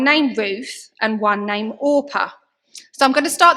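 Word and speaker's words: Orpah: Oprah Winfrey's birth certificate her name is oppa and she was named after oppa in the story of Ruth but her parents actually just pronounced her name wrong so yeah so Oprah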